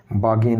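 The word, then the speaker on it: bargain: इसको वैसे किसी भी वर्ड के बीच में OR AR आ जाए, आर को प्रोनाउंस नहीं किया जाता, हम इसको बार्गेन कहते हैं। बार्गेन नहीं होता, बागेन होता है, बागेन। जैसे पार्क नहीं होता, पार्क होता है। जैसे टीचर नहीं होता, टीचे होता है, तो इस आर को प्रोनाउंस नहीं किया जाता, बागेन्स।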